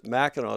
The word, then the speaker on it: Mackinac: And that is pronounced Meno, spelled Macan.